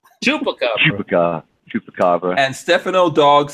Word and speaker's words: chupacabra: Yeah, Dan Weirdo had to spell it out for you. Is that what you saw? No, Chupacabra. I am the Pukacabra. Chupacabra.